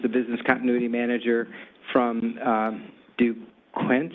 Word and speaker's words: Duquesne: And then Adam Ingram, who's the Business Continuity Manager from Duquesne. How do you say that? Duquesne.